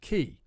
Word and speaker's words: quay: loads of english people don't know how to pronounce the word key because it looks like it should be pronounced